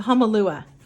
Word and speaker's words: Hahnemühle: I'm also going to share and show with you the Hahnemühle. The Hahnemühle. It has a at the end.